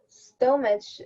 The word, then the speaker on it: stomach: Stomach ache. This CH makes the K sound.